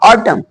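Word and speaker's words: autumn: N silent रहता है यदि एम एन साथ में हो तो वहां एन साइलेंट रहता है जैसे य ऑटम टम नहीं बोलेंगे ऑटम ऑटम ऑटम मीस पतझड़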